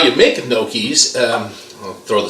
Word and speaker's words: gnocchi: Now, how you make gnocchis, I'll throw the spelling up there for you, and it's pronounced gnocchis.